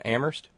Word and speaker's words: Amherst: thank you to Terry in Amherst where only the H is silent Thank You Terry thank